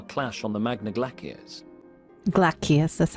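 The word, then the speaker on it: Glacies: Glacius, that's how you pronounce it.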